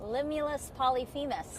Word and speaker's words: Limulus polyphemus: Limulus polyphemus.